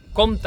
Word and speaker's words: compte: Compte amb P es pronuncia, a la pràctica, igual que el comte de